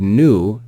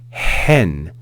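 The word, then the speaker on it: ἕν: word because you'll notice it's got a rough breathing Mark over that Epsilon so it's not n it's not n it's hen hen so we add aspiration before that vowel sound hen hen we then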